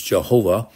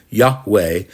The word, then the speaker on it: Yahweh: the children of Israel Yahweh the old translations was Jehovah but that's not the correct pronunciation it's Yahweh the god of your